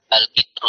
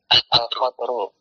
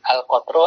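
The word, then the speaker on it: القطر: Al-qitru, Ustaz. Al-qatru. Nah, ahsanta. Al-qatru adalah isim lazala. Ingat kitab Qatrun Nada karya Ibnu Hisham, ya sama, al-qatru bacanya al-qatru.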